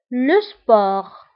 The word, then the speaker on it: sport: الرياضة le sport. Le sport. أيضا بالنسبة لو سبور نكتبها بالتي في آخر الكلمة ولكن لا ننطقها، نقول لو سبور.